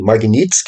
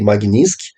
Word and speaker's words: Magnitsky: Eh, vamos mencionar aqui a lei Magnitsk, né, ou a lei Magnsk pode ser pronunciada dessas duas formas aí.